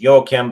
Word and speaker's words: Joaquin: the movie Napoleon with Joaquin Phoenix. Actually, the name is pronounced Joachim, but I'm not telling anybody how to pronounce their name. It's an old European name.